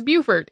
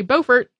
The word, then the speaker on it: Beaufort: most other people say Beaufort are named after the same person who pronounced it Beaufort. I have no explanation for why this pronunciation in South Carolina is different.